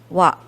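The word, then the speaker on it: は: of the sentence and this is the ha syllable but since it is a particle it is read as what and noun 2 describes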